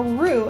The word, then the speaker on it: roux: of our foods is what we call a roux and that's spelled r o u x room and all